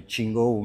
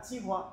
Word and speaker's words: Tsinghua: Alors, je vais dire le nom, mais Tsinghou, mais je prononce toujours mal, à Pékin. Ouais. Donc, et qui... Ah, Tsinghua.